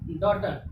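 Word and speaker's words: daughter: यहाँ पे जी के बाद यहाँ पे भी एच आया तो जी क्या हो गया अपना, साइलेंट हो जाएगा जी।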